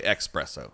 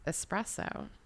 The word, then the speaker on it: espresso: what about espresso espresso it's es yeah but i say expresso yeah it's not that yeah i look real fancy everywhere i go yeah it's it's espresso e-s-p-r-e-s-s-o espresso did you